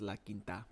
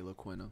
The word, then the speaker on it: La Quinta: It's actually pronounced La Quinta, but I like to say La Quina.